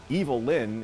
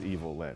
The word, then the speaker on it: Evil-Lyn: Ram Man and Fisto and Mekaneck, Evil-Lyn, whose name is just a phonetic way to mispronounce Evelyn.